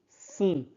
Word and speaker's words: font: Sont, font. O-N se prononce on. Mouton, son, font.